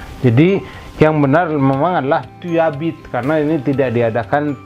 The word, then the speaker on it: tu habites: Tu habites ya, jangan tu habites tapi tu habites. J'habite, bacanya itu nyambung gitu. Tu habites. Ini juga sama, e-nya samar-samar, s di ujungnya tidak dibunyikan, akhirannya memang es ya.